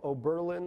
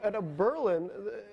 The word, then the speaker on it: Oberlin: Marxist college in Ohio, Oberlin or something, and I think it's on the penultimate syllable, the stress. Anyway, at a Berlin, all of a sudden